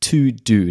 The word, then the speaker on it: TeuxDeux: app which is called To Do. Now, it's not spelt the way you would normally spell To Do. It's spelt TEUXDEUX, and essentially it's an app that has a little bit of a subscription.